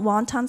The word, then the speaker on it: wonton: We call wonton soup wonton because the first immigrants that came here to the United States were Cantonese, and they pronounce that dumpling as wonton.